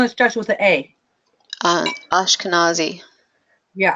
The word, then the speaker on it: Ashkenazi: whatever that Hashem on a Koski on an Asha kasi I can't pronounce it yeah same thing as um is Ravi he's Sephardic oh the part okay I'm doing instruction with the a um Ashkenazi yeah Ashkenazi I have no idea what that is but